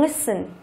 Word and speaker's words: listen: Tiếp theo chúng ta có từ listen. Listen. Từ này thì chỉ là động từ thôi, nhưng mà trọng âm của nó thì lại rơi vào âm thứ nhất.